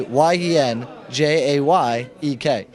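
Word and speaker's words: Jedrzejek: hear it okay so j e d r z e e k or phonetically y n j a y e k that's awesome excellent we're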